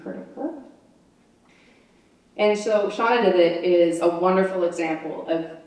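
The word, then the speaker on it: Shanawdithit: That's how you say it, Shauna Did It.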